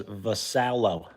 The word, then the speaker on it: Vasalo: Uh how to pronounce my last name is Vasalo.